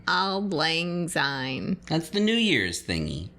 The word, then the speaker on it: Auld Lang Syne: How do you pronounce it? Auld Lang Syne. Auld Lang Syne.